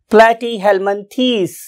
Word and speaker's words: Platyhelminthes: Now, what is its true pronunciation? Platyhelminthes. It's a true pronunciation for this phylum, Platyhelminthes, right?